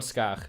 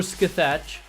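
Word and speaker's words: Scáthach: But anyway, we got Skach instead. That's how you pronounce that. Or Skathach, but it's Skach.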